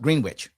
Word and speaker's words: Green Witch: Courtland and um the Green Witch Greenwich. I'm sorry. This is actually pronounced Green Witch. It's not pronounced Greenwich.